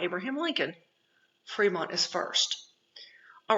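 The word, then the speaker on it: Frémont: name is in red his name is actually pronounced Fremont because it's of the French but um John C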